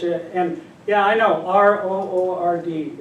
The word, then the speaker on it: R.O.O.R.D: So we'll watch a video to get you, and yeah, I know, R-O-O-R-D, it's not a word. So how do you pronounce it? I don't know. You know, I call it ROORD.